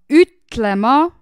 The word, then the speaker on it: ütlema: So this is an ü. This is u with dots. So it's ü. Like when you see someone who is really pretty on the street, you can go like ü. You know, this is this lyric letter. So ü. Peab ütlema.